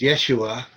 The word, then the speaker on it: Yeshua: which is Yeshua, uh, so the name of God in Hebrew, which is Yahweh, is spelled Yod He Vav He, Yes.